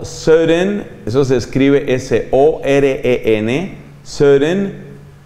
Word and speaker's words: Søren: Y luego hay otro filósofo de origen danés, de Dinamarca, llamado Søren, eso se escribe S-O-R-E-N, Søren.